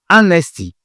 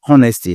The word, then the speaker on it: honesty: Honesty. C'est pas honesty, non. C'est honesty.